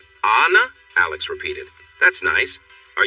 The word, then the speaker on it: Anna: wrote her name Anna she quickly added the pronunciation SL a na slash Anna Alex repeated that's nice